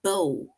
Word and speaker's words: bow: the girl tied a bow in her head right it's also b w but word rhymes with low right so this word rhymes with how like bow how and this word rhymes